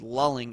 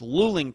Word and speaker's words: Luling: little town of Luling I pronounced it incorrectly when I did the unfound now I said lulling it's Ling Texas and for some reason